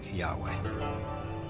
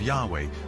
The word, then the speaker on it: Yahweh: these four letters which in English would be YH wh which we think were probably pronounced something like Yahweh but Yahweh only appears